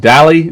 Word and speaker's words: Dalley: the background we also have is it Dahle the hey last name is pronounced you nailed all right and you